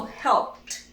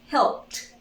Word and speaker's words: helped: ed, we do not pronounce this, only t, so helped, helped, helped.